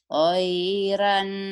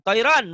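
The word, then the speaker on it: طيرًا: Toiran. Orang Padang, orang Medan. Tairan. Toiron, Bu. O, bunyi O. Toiron. Toiran Ron. aba. Toiron, Bu. Toiron. Jangan toiran. Ayo, ayo.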